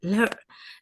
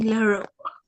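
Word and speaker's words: Lheureux: Mademoiselle Leroux. The audiobook narrator kept saying Leroux. Leroux? This is how you pronounce it.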